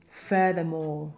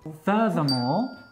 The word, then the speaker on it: furthermore: Creo que estamos hablando de furthermore. Furthermore, the stress on the first syllable.